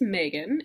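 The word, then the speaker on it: Meganne: i wouldn't share myself so my name is megan and you can call me megan because you're in college and that's fine so you can call me megan if you email me and are addressing me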